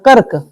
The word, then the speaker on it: कर्क: संयुक्त मात्रा ना है इसका उच्चारण हल्का करेगा ना कर्क र का कम उच्चारण क का ज्यादा उच्चारण कर्क समझ में आया क्या